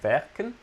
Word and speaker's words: werken: We saw last sessions that the W is mostly pronounced like V, werken.